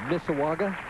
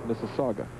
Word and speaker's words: Mississauga: Finish with the IOF Foresters in Mississauga, Ontario. I think I'm pronouncing that right. Had no problem with making that 7-pin for the people in Ontario. I hate to correct you, Mike, but that's Mississauga. Mississauga.